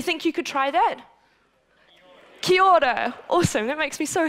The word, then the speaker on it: kia ora: So the way you say it is this portion is said like key, like lock and key. And the second portion is like the oar on a boat, right, to paddle.